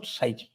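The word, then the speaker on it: 蔡奇: taken the प्लेनियर meeting साइची साची काची काची काची साची इट प्रोनाउंस साइची अच्छा नाउ द थर्ड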